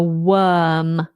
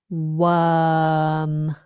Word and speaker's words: worm: It's a worm. We do not pronounce the R. We just have the long vowel worm.